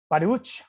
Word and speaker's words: Baruch: Baruch, which is the proper pronunciation, Bay Area, even though I know a lot of people say Baruch and he never corrects them.